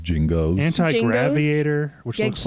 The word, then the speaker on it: Genghis: It's pronounced Jingos.